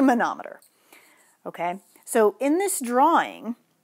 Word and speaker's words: manometer: Okay, it's not pronounced manometer. I've heard people pronounce it that way. It's a manometer.